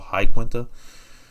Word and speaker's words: Iaquinta: And it was Iaquinta or Iaquinta. I mean, Al Iaquinta ended up having a interview with Ariel Helwani not that long ago, and he feels like it's pronounced that way, so I'm gonna go with Al Iaquinta.